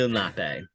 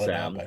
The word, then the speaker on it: Lenape: Oh, It's actually sorry pronounced. for that smidgen. Yeah, it's actually Lenape. So, Lenape.